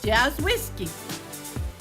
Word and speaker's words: Jawiski: Her last name is Jawiski. Did I pronounce that right, Connie? Yes. Jazz Whiskey. No, say it, Connie. Jazz whiskey. Is Jazz Whiskey.